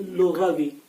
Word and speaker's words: لغوی: بھی پڑھتے ہوئے لغوی، یہ لغوی نہیں ہے بلکہ لغوی، یعنی لغت میں اس کی یہ